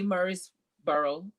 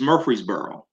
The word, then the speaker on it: Murfreesboro: so eddie please um first of all say murray's burrow in the right way and so my guest